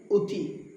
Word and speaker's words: অতি: নিয়ম 1, শব্দের শুরুতে যদি অধ্বনি থাকে এবং এর পরে হ্রস্ব-ই, দীর্ঘ-ই, হ্রস্ব-উ কিংবা দীর্ঘ-ঊকার থাকে তবে আদ্য অধ্বনির উচ্চারণ ওকারান্ত হয়ে যায়। যেমন অতি হয়ে যাবে অ হয়ে যাবে উ, অতি।